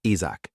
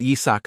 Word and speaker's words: Yizak: His name was Ysach. While these people read it as Isach. Actually, the pronunciation was quite similar. But Yizak still couldn't accept this. Hey, how many times have I said it? My name is Yizak.